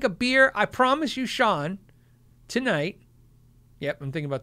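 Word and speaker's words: Chaun: And then Sean, who's spelled C-H-A-U-N, wants me to know phonetically it's spelled, pronounced Sean. That's my son's name, S-E-A-N, Sean.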